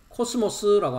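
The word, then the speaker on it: κόσμος: 오른쪽을 보시면 천하라고 하고 있는 것이 헬라어의 발음은 코스모스라고 합니다.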